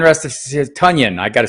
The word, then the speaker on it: Tonyan: hoping that that's not the case uh robert tanyan rest is tonyan i gotta say his name right blue crew